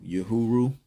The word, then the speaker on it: Uhuru: just wanted to tell you guys how to spell that it's uh u-h-u-r-u again that spelling is u-h-u-r-u yahuru um I also talked about the uh French